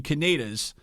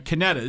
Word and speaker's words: Canedas: ocean and Monmouth County I've been calling Canadians it's kinetis I'm so used to